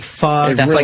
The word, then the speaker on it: pho: Yeah, it's like pho. It that's really like their is. Signature dish, like a noodle soup. It's like pho.